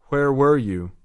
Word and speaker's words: Where were you: بازم تأکید میکنم که باید دقت کنید که تلفظش ورور یو نیست. لبا رو باید برای هر دوتا کمی قنچه بکنید. گوش و به دقت تکرار. Where were you?